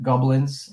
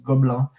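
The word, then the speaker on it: Gobelins: That's in Goblins, I guess you would say if you pronounce it, but in French, this is Gobelin, where it's one of the big animation schools in the world now.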